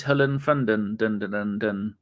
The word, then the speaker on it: Hollefreund: is it is and your surname is Helen fonden perfect perfect for pronunciation and you are in fact an ABW